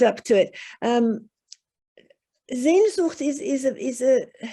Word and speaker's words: Sehnsucht: Sehnsucht. So, oh, I'm sorry. Yep. Sehnsucht. Sehnsucht. Ah, my Portuguese is not is not up to it. Sehnsucht it's a very strong desire for it's almost